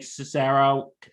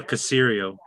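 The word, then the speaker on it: Caserio: ties but what you brought up with nick cesaro how do you say his name uh cassirio the cereal thank you alex mr casirio if you're watching i'm sorry i mispronounced your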